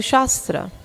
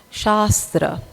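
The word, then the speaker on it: śāstra: From shas dhhatu shastra. Right. So the first a is a long a and shastra. The first a is a short a.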